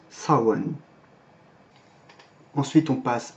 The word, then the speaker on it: Samhain: fait du gaélique irlandais moderne et qui se prononce sans wang ensuite on passe à jules qui lui aussi